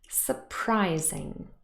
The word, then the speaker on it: surprising: stress has not changed it's still in the middle here on pry the only little thing that has changed if i go back again is the syllable boundary because the z sound was part of the second syllable but here it actually moved into the third syllable so it's a pr zing but pry has the main stress let's add another suffix